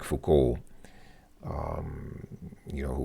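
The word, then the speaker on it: Foucault: and cultural critic um most people I guess I guess people who don't speak French would say fuol but I believe his last name is pronounced fuk or something like that and this guy is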